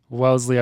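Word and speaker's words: Wellesley: my mispronunciation of Welsley Wellsley well Wellsley yeah Welsley I believe it's pronounced and I I mean mean look I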